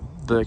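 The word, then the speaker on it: Bourke: So 8 Burke Street, and Burke Street is spelled B-O-U-R-K-E.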